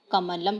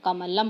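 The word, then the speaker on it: कमलम्: करो ए क मालव कमलम के बाद वाली मां में और का उच्चारण नहीं है तो हम उसे हल्का सा बोलते हैं कमलम यह देखिए मां के बाद में कोई स्वर नहीं सुनाई दे रहा है इसी प्रकार आप आगे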